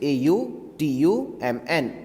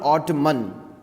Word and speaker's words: autumn: a u t u this is not the way the correct way is a u t u m n or term it is not ottoman this is how i have heard students speaking correct pronunciation anyways is autumn and i hope